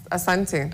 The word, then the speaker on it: Asante: Asante, or how do you say it? Yes. Yeah, man. I was checking out you. Karibu, rather. It's Asante.